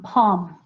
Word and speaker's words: palm: And then you have palm. Okay, you get the aw sound from the A-U.